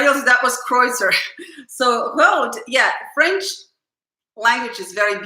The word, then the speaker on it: Rode: Jacques Lou, you don't pronounce the Rode. Yes, I'm sorry, right? So is it road? Just do you not say E? Yeah, just road, right? Yeah, well, no one pronounced Tchaikovsky correctly in Russian, so I guess. Thanks, road, it's road.